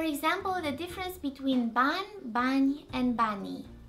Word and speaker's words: bani: When it appears at the end of words, I is not pronounced fully, but as a very faint sound, especially when it's preceded by a consonant. I is almost silent. You know it's there because the consonant preceding it sounds softer than it does when there's no I following.